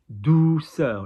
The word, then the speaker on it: douceur: So tonique, douceur. Look at the D-O-U. O-U is chest. Yeah, U is top lip. Douceur, not douceur.